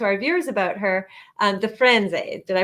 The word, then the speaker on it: Firenze: to talk to our viewers about her, the Frenze. Did I pronounce it correctly?